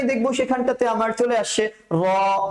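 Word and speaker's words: ر: তারপরে হচ্ছে র। এই র উচ্চারণটা করার সময় না আমাদের ভেতর থেকে এক ধরনের উচ্চারণটা প্রকম্পিত হতে থাকবে।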